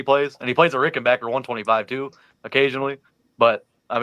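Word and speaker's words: Rickenbacker: Isn't it Rick and Ber? Is it Rick and Beron? You can say Ber. Rick and Backer. Rick and Ber. Say Rick and Backer.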